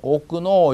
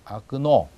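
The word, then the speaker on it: окно: 그 다음 창문 쓰여있기는 오끄노 이렇게 쓰여있죠. 근데 오끄노라고 하지 않고 그냥 아끄노 이렇게 합니다.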